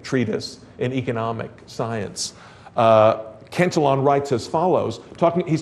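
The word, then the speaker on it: Cantillon: the great Treatise of Richard kelon or Kon if you prefer the French pronunciation uh the the essay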